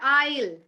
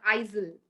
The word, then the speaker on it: isle: done okay now s s goes silent in Island do we say Island it's Island and is she was walking in the Isle is is that you know one particular row where she was walking so it's is not Isel Island and we say